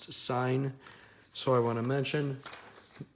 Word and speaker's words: sine: said although this is marked sin it is pronounced to sign so I want to mention the biggest sin that you'll create in this section is calling sine sin alright so hopefully you guys enjoyed my